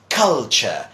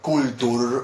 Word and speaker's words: culture: this first one well that is culture it's not cool - or a cool duel or example like that